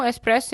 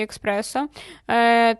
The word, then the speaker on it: Еспресо: ще в 2018 році у нас було дві позиції в меню Еспресо і Експресо Так ми людей вчили е правильно вимовляти саме слово тому що епресо у